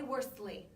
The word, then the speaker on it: Worsley: It's Worsley.